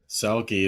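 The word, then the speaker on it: Selke: Selki. It's like Selfie, but you know, more more masculine.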